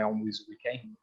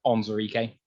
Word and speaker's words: Onwuzurike: They wanted to trade up from 41 to get Levi Onwuzurike. Got the name wrong. Onwuzurike, beg your pardon.